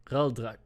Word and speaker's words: Raldrak: Raldrak. R-A-L-D-R. And you're absolutely sure that's... You're not just mispronouncing that.